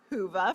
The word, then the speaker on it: Whova: Be sure to download our annual conference app, Whova, pronounced Whova for those who are wondering, to facilitate your in-person experience as well as to take advantage of virtual sessions.